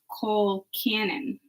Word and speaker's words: colcannon: I got the crock pot because it's actually coal Cannon mm-hmm so I think the way the Irish